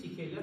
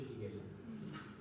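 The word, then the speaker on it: Shigella: positiv positivo ya entonces shela eh shela es sí que es shela pero no sé por qué por costumbre siempre se he dicho xiguela y ya estoy viejo para cambiar la costum entonces la mantendremos así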